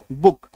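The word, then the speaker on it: book: सब आ जाता है तो डबल ओ का उच्चारण क्या हो जाता है छोटी उकार की मात्रा आई बात समय में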